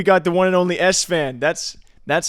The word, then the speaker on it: Esfand: special interview we got the one and only s fan that's that's how you pronounce it right yes it is it is it is San sometimes people say sond Seer says sond is a joke a lot